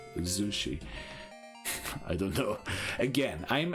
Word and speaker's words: Zushi: going to name it Zushi we already know that with a zed so it's Z not Sushi it's Z Zushi I don't know again